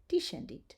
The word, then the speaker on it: descendit: When the S and the C are together, we are going to pronounce it sh, as in shine.